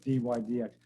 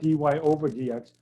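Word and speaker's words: dy/dx: y d x okay this is how you say it d y d x even though it looks like d y over d x we normally just say d y d x right so this is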